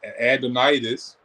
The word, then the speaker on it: adenitis: tonsillitis are you having um uh adenitis that's the correct way to say it but if you're having